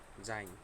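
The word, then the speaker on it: sein: প্রথমে আমরা শিখব জাইন। জাইন অর্থ হচ্ছে হওয়া। জাইন ভার্বের আরও অনেকগুলো আছে কনজুগেশন, যেমন হচ্ছে ইস বিন, ডু বিস্ট, এর, জিএস, ইস্ট, এভাবে। তো জাইন ভার্বের কনজুগেশনটা আমরা পরে আরেকদিন দেখব।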